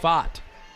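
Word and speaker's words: Pfaadt: up second touchdown of the evening for Aaron font it's spelled PF aadt but pronounced pot and he's a player especially running the ball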